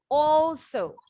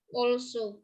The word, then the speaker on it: also: Also juga, betul. Bacanya O. Also. Also.